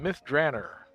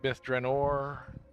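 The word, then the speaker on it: Myth Drannor: and we are in Myth Dranner famously created by Ed Greenwood the DDO world and that's the way he pronounces it. Some people call it Bith Draor.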